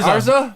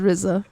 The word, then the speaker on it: RZA: I went to spell it. And I said she said RZA. Arza. Arza? She said Arza the first And the time. Jarza? And then I said RZA.